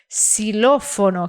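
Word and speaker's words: xilófono: de ksx certo agora quando o x está no começo da palavra aí ele tem som de s por exemplo se lofono que é uma palavra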